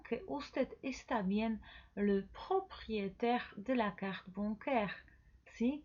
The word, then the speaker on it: propriétaire: usted está bien, le propriétaire de la carte bancaire. Sí, que es dueño. Le propriétaire. Repita conmigo. Propriétaire. Como viste aquí, ahí siempre se pronuncia E. Propriétaire.